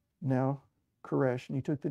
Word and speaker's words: Koresh: change his name to koresh because that is how the name Cyrus is pronounced in Hebrew second he must become